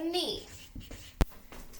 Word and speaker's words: knee: I might bump my knee. Okay? K is at the beginning, but we focus on that N sound. K is our silent letter.